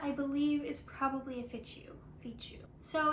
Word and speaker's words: fichu: And that would be the, hold on, I'm going to say it wrong, fichu? Fichu?